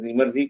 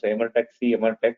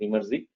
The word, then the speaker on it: Emertxe: know how to pronounce you should pronounce it as imy because some of you pronounce MRX right the right way to pronounce it imy we are n company